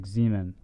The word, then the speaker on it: Simon: He said in Germany, Simon is pronounced like Zeman. Simon. Sorry, Zeman.